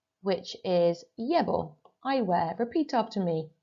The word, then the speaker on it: llevo: So looking at column 3, which is llevo, I wear. Repeat after me, llevo. Muy bien. Just remember that that double L is a Y sound.